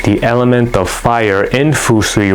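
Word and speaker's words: 風水: It's pronounced fusui in Japanese, which means wind and water.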